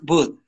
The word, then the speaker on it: wood: Cuidado que tu W suena un poco como una B. No es wood, es wood. Como why, where, wood. Where, why, wood. Why. Wood. Wood. Misma, haces lo mismo con los labios cuando dices where, when, why, where, where, wood.